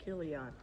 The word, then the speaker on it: Chilion: And they have two sons, Mahalan and uh Chi Chilion or Keilian. It's that Kilian. Yeah, because it's ch is pronounced what? Like a K. Killion.